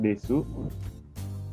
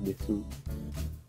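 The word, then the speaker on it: です: kalimat, ya ada yang menarik di sini, meskipun ditulisnya desu, tapi bilangnya nggak desu. Si u-nya nggak dibaca, Deso. dibacanya deso. Deso. Bukan deso suci, bacanya des.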